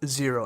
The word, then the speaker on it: Xero: that we use internally called xero it's spelled x-e-r-o again that's who we recommend